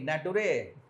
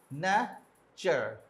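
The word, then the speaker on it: nature: এ ন্যা এটা কি ন্যাটোরে নাকি নাচুরে কোনটা এক্সাক্টলি এই আপনার ই টা কিন্তু উচ্চারণে আসবে না ন্যা চার ন্যাচার এন সাউন্ড না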